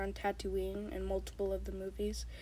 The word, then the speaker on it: Tatooine: all pronounce it correctly tatooine it's like the word tattoo and then like halloween so tattoo ah there